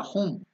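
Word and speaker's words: हूं: had put that Mantra whom h o o m is the correct this thing sometimes we put h u m and U is elongated whom so that is the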